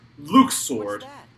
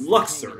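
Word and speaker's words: Luxord: yes it is official it is officially pronounced Luke sword not Luxor it is I mean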